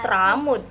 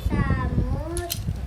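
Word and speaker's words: Thamud: Kaum Tramud. Masa sih kaum Tramud? Kaum Samud ini untuk kembali ke jalan yang benar. Terus Samud. Dibacanya Samud. TS soalnya.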